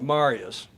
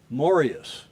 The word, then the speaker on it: Marius: is mar and it's looks like Marius but it's pronounced morus is it yeah but I've been told by the swedes and I've been I I i' been texting with Marius moris who's in I think